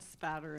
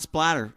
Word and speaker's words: spatter: You said a weird thing about blood blood spatter analysis. That's right. See, you said it right. Spatter. It's not splatter, children. It's spatter. Spatter, not blood splatter.